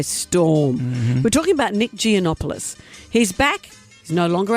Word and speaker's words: Giannopoulos: Joining us now, Nick Geonopoulos. Hello, Yasu. Good. Good morning, Yas. How are you? Great. Beautiful pronunciation of my name, Amanda.